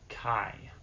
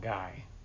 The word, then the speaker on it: Kai: I just want to point out, my name is pronounced Kai. Kai, the cable guy. That's why it rhymes. It's not Kia, it's not Ty, it's not Guy.